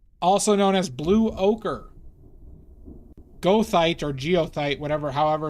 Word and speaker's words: goethite: Like goethite. But I believe it's pronounced geothite.